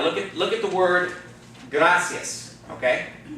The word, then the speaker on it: gracias: the word gracias okay now the accents going to fall on the second-to-last syllable because it ends in the net okay but that second the last syllable is not the eye because the eye and the egg go together to form of what a diphthong okay and so the accents on the second left so we'll the last